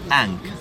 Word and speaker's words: Ankh: So when you see this sign, and remember this sign, and don't forget this sign, we pronounce it Ankh, A-N-K.